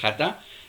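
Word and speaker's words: חטא: Un término se conoce como el término hatá. En hebreo se pronuncia hatá, y la mayoría de todas las faltas registradas y traducidas como pecado en el Antiguo Testamento son hatá.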